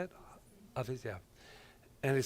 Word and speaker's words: Hafiz: Hafiz, yeah.